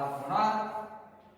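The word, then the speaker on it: monarch: और मोनार्क, मैंने यहां मोनार्क्स बना दिया। तीसरा एग्जांपल से आर का मतलब बेहतर, और इसका भी जो प्रोनाउंसिएशन है, CH का जो प्रोनाउंसिएशन है वो क्या है? क।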